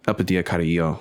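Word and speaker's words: Elpidia Carrillo: Epidia Carrillo.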